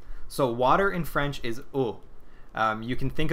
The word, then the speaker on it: eau: doing water today so water in French is O um you can think of a gill like a gorilla and say o